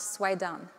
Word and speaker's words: Soueidan: for Smashing Magazine, and my last name is pronounced Suan. Okay. Um, uh, the the the spelling is French and German, so I blame them. Okay, so before I start